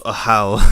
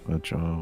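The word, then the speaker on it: Ajaw: Oh, Ajah, whatever the fuck his name is. Yeah, it's pronounced Ahau, apparently. I'm just gonna say Ajah, because I don't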